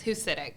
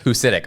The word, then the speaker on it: Husidic: Um, so the end the C at the end is actually a cha, so it's ditch.